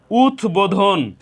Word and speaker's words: উদ্বোধন: উচ্চারণের কোন পরিবর্তন হয়নি ঠিক দ্বিতীয় নিয়মেও উদ্বোধন এখানেও উথ উপসর্গে গঠিত দ এর সাথে বফল সংযুক্ত হয়েছে উথ উপসর্গে গঠিত দ এর সাথে ব ফল সংযুক্ত হওয়ার কারণে এখানেও ব ফলার উচ্চারণ অবিকৃত রয়েছে ব ফলার উচ্চারণের কোন পরিবর্তন হয়নি এই হলো শব্দের বানানগত